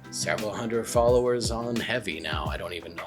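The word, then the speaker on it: Hevy: app and for me that's heavy that is spelled h v y it's obviously on Android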